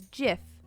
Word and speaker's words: GIF: well ted cruz 8 my son says so pronouncing it as jiff is the wrongest thing a person oh by